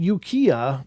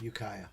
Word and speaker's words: Ukiah: We lived in Ukiah, California, which is about a 1-hour drive. Ukiah.